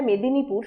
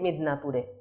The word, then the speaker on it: মেদিনীপুর: রায়কে রে, দত্তকে দত্ত, বা কোনো জায়গার নাম, জায়গাটা মেদিনীপুর সুন্দর করে লেখা আছে, কিন্তু কেউ স্টেশনে নেমে উচ্চারণ করলেন চলে এসেছি মিদনাপুরে। এই যে মিদনাপুর, মেদিনীপুর না বলে তারা একটু ইংরেজি ঘেঁষা উচ্চারণ করছেন, সেটা 21 শতকেও অব্যাহত রয়েছে।